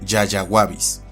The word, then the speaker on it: Yayaguabis: Y en el caso de este otro, el nombre deriva del quechua Yayagua, que significa magnífico, con lo que el género se pronuncia y castellaniza como Yayaguabis.